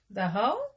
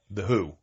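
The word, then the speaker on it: The Hu: The Ho? The Who. They pronounce it H-O? No, Who? HU. Oh, H-U. Yeah, oh, The Who.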